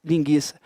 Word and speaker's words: linguiça: de Aveiro o tema a pronúncia mudou de linguiça para linguiça linguiça a pronúncia continua sendo a mesma oo não é pronunciado